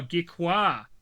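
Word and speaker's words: Gecqua: Uh and I'm assuming that's pronounced Geeka. G E C q U A. Oh, geekqua like uh Aqua Gecko.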